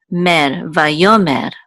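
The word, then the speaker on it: ויאמר: The aleph is silent, so it's part of the o sound, so vayo. There's a mem with a sigil and a resh which says mer, vayomer.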